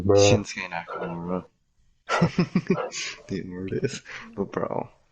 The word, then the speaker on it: Shinsuke: the time, Shinsuke, before I knew how to pronounce his name. Or what, wait, what did I call him? Sensuke. Shinsuke, yeah, Shinsuke.